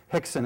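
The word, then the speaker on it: Rickson: It's spelled R-I-C-K-S-O-N. Hickson, it's pronounced in Portuguese.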